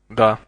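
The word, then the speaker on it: да: for yes the the the Russian word for yes or the has a similar pronunciation to the English name Doug without the G listen and repeat the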